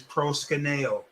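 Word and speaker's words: προσκυνέω: Okay, so this word, the way you pronounce it, the root is proskuneo.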